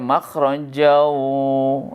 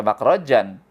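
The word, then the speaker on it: مخرجا: Nah, kalau makhraja disambung ke waw, maka dibacanya makhrajau ya. Makhrajau itu idgham bi gunnah. Kenapa? Karena tanwin bertemu huruf waw. Waw termasuk huruf idgham, maka tanwinnya masuk ke dalam huruf waw. Dibacanya makhrajau, jangan dibaca makhrajan.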